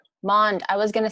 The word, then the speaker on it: Maund: tell me how to say your last name monde i was going to say it right but